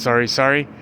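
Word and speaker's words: sari: playing badminton, volleyball, Sorry, it's spelled S-A-R-I. And I guess it's pronounced sorry.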